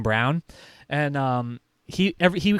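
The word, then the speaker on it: Braun: name it because it's it looks like it's spelled like Brawn but I think it's called his name is Christian Brown and um he ever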